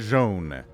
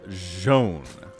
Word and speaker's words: Zoun: Did I say Zoun first? I meant Zoun. That is actually how you say it.